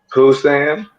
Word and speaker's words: Busan: Hey, Hey, my I head marshal said, Pusan? Is that how you say that? How you say it? Was it Pusan? How you say it? Pusan? Is that a place in Korea? Oh, Pusan. Busan.